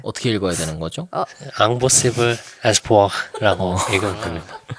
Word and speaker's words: Impossible Espoir: Impossible Espoir라고 읽으면 됩니다.